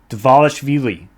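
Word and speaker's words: Dvalishvili: Say it like it looks. Divalishvili.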